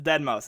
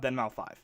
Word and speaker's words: deadmau5: to dead mouse deadmau5 if you guys don't know how to pronounce it it's dead mouse it's not denmal5 anyways um electronic music is